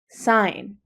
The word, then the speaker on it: sin: i n e but we abbreviate it using s i n which we're going to pronounce sign okay and S of